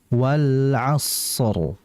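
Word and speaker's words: وَالْعَصْرِ: Nah, jadi dialirkan sadnya wal asr. Asr mengalirkan di situ ngalir suaranya ya.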